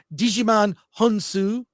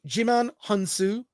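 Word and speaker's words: Djimon Hounsou: including General Titus played by uh I'm gonna mispronounce his name but you've seen this actor before Digiman honu uh Jim hansu yeah jimon g excuse me jimon hansu uh by Duna plays a character named nemesis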